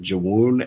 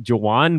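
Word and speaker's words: Jawun: Was it Jawoon Evans? Yeah, I think it's actually just Jawan, but yeah, it's spelled Jawoon.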